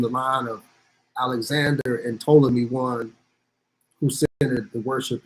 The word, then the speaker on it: Ptolemy: the one so turned a lot of people made a mistake and you say put Ptolemy but to pee is silent there the first hotel who